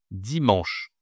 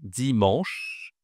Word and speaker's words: dimanche: On dit dimanche. Dimanche dimanche. Alors attention, ici tu as toujours la nasale en en OK dimanche et ici tu as.